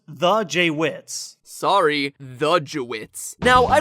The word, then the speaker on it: JWittz: It's actually pronounced the JWittz.